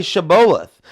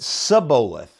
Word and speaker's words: Shibboleth: They couldn't say Shibboleth, but they would pronounce it Sibboleth. They couldn't say shh. They say s, right?